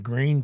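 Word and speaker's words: Gruene: Shop, which is in Green, Texas. And if nobody's been to Green, it's spelled Grune, which I wonder how people even say that if they don't know that.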